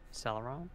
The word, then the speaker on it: Celeron: brag but there's a the CPU chip rhymes with Bella Ron Celeron it's an Intel Celeron